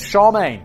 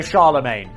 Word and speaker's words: Charlemagne: And it was Charmaine is an accepted pronunciation. It's how I've always thought of it in my mind and I looked it up. It says Charmaine, also Charlemagne. Both are acceptable.